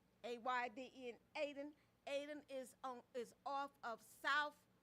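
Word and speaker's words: Ayden: The Almondsville Original Free Will Baptist Church, 3745 Almondsville Road, Aden. A-Y-D-E-N, Aden.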